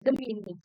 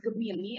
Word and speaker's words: Gemini: Jadi kalau secara penulisannya memang Gemini, tapi secara pelafalannya itu tuh harus Gemini ya Bapak Ibu.